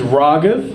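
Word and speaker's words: Raghav: My name is Ragav. It's pronounced ra like ramen and then gov like government. Ragav. It's two syllables. It's one word.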